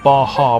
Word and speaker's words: Baja: Bodger is pronounced Baja.